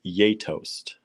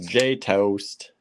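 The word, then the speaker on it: Gjetost: that's from Lithuanian Marianne says it's pronounced yetost uh that's good to know because we just see it at the store we're yay tossed y-a-y-t-o-s-t we call it J house J toast and eat it with slices of Apple what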